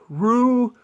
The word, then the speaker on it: Rue: Next up, we have this store which I think is called Rue 21 or whatever the heck that is, which rhymes with blue, which is also this color, which I actually was not even thinking about at all.